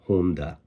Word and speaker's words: Honda: For example, Honda is not Honda, it's Honda. Subaru.